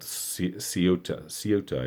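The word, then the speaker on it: Ceuta: entire canal and uh the place is called seota i believe is how you say it c-e-u-t-a and the footage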